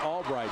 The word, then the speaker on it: Albrecht: Spelled A-L-B-R-E-C-H-T, pronounced Albright.